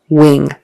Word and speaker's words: wing: going to wing it wing wing a bird has a wing it flies with wings so that word w-i-n-g Wing is pronounced with a long e sound that I is now